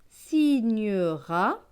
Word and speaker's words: signera: Donc ce mot va se lire si, gne, ra, signera.